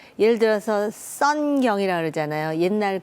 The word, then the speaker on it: 선경: 사람들이 잘 기억을 하거든요 한국 이름을 가지고 가면 발음을 제대로 못 해 갖고 자기네들끼리 키드 거리기도 하고요 그거 아십니까 왜 예를 들어서 선경이라 그러잖아요 옛날 그 SK 원래 선경이 있잖아요 근데 그걸 자꾸 성크 영 이런 식으로 자꾸 발음을 하니까 식으로 하죠 그래서